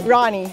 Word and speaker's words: Rani: Rami? Rani.